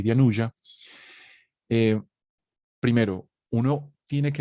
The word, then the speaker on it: Anuja: sánscrito, perdón se dice anuya, se escribe, les voy a escribir aquí en el chat, se escribe Anuja, pero esa J en sánscrito se pronuncia como una Y.